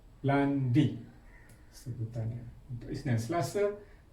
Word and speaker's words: lundi: Isnin dalam Perancis dipanggil lundi. Lundi. L U N D I. Yang ini I. Kita dah sebut dalam alfabet hari itu. Yang ini I. Lundi sebutannya.